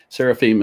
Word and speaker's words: seraphim: So seraphim is, Seraphim, and that I-M ending, pronounced im, it means that the word is plural.